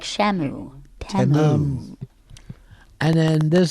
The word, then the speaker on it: Temu: We all realized we were pronouncing it wrong. I know. Apparently, it's what? Okay, so we all always said Timu, but they were saying Temu. Temu. Like Shamu. Temu.